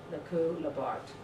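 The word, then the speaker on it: Lacoue-Labarthe: last name, Lacou Labarthe, which is spelled L-A-C-O-U-E, so Lacou. I'm sure it's pronounced much more sexily in French, but pronounced Lacou, Lacou, dash Labarthe, L-A-B-A-R-T-H-E, Lacou Labarthe, that's his last name.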